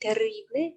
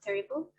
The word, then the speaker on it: terrible: The R, we will push it a bit, terrible instead of terrible.